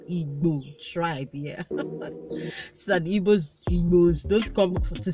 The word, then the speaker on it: Igbo: So that Igbos don't come to say that I did not pronounce it correctly.